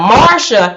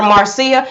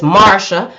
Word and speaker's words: Marcia: broderick jr now marsha even though i was calling her marcia because her name her name is spelled m-a-r-c-i-a so i assumed it was marcia but then speaking to mary mary said no it's marsha her name is marsha so marsha she didn't